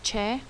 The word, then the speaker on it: che: you pronounce it correctly the next letter is che well we don't have this as a letter in our alphabet we do have this sound in our alpha in our language in english um the che makes the same ch sound that the english combination